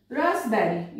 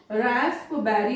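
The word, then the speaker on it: raspberry: जाएगा कबर्ड बोला जाएगा, रसबेरी यहां पर पी और बी है इसको रास्प बेरी नहीं बोला जाएगा रसबेरी, रिसीट यहां पर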